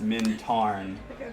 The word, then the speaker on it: Mintarn: I said it wrong because I was doing it off of memory, but it's Mintarn. T-A-R-N. Not T-R-A.